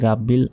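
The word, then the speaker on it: ربّ: সময় অনেকে ভুল বলি এভাবে বলি যে আলহামদুলিল্লাহি রাব্বিল আলামিন এটা কিন্তু সম্পূর্ণ ভুল এখানে আলহামদু হবে না বলতে হবে আল হামদু হামদু গলার ভেতর থেকে উচ্চারিত হবে হামদু আলহামদু লিল্লাহি লাতে এক সেকেন্ড টেনে পড়বেন রব্বিল রব্বিল রাব্বিল নয় রব্বিল আলামিন এই আইন এখানে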